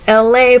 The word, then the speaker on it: Elay: It's me, LA. Pronounced like LA, like the city.